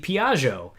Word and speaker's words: Piaggio: And he said when he was young, he had a Piaggio. And Giovanni, am I pronouncing that correctly?